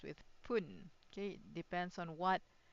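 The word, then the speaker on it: ぷん: So if you have realized I put it here as fun but here it is pronounced as pun. Okay pun.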